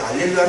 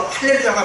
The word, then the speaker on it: 할렐루야: 어떤 분들이 이제 막 알렐루야라고 하는데 알렐루야는 아니고요. 원래 히브리어로 할렐루야가 맞고요. 알렐루야는 라틴어로 이제 번역한 거라서 할렐루야가 더 발음이 맞습니다.